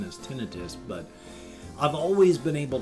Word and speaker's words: tinnitus: I've always pronounced it tinnitus, but apparently the appropriate pronunciation is tinnitus.